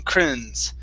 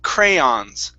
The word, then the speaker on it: crayons: good very good now at the very beginning you were saying crayons really quickly saying crins okay and then you started opening up yes the word is cray crayons crayons crayons there you go good